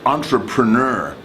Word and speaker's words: entrepreneur: This is one of those words in English that was borrowed from another language, in this case French. These borrow words are hard to pronounce. So entrepreneur.